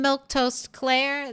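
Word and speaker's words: Milquetoast Claire: Once again, I am Milktoast Claire. That's how you say my name in case you were wondering.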